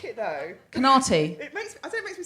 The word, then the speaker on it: Conaty: Is it Conaty? It's Conaty. Like comedy. Oh, that's good.